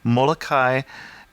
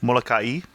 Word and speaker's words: Molokai: get as much traffic, Molokai and Lanai. And I don't think I'm quite saying that right. You're supposed to pronounce every vowel, right? So it's Molokai?